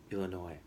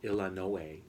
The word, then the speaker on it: Illinois: We learned that Bybanks has a very strong English dialect, that they pronounce the American state Illinois in a different way. They say it Illinois in an exaggerated kind of way.